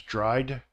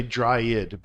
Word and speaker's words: dried: loud plowed dry becomes dried dried and some people will say dry it but that's not correct you would just say